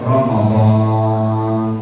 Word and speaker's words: Ramadan: Ramadan setelah huruf D ada alif bacanya panjang.